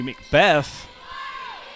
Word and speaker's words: McBeath: Excuse me, Macbeth. Macbeth, it's spelled like McBeath, but it's pronounced Macbeth.